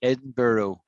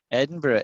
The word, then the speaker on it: Edinburgh: don't pronounce it right edinburgh is so you may as well learn it right right it's edinburgh not edinburgh no it looks like berg that's a good guess when you look at it you eyeball it you